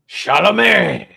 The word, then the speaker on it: Chalamet: Timothy Chalamet. He's Hold one on, of these guys that like you have to say it like Adam Sandler. Chalamet.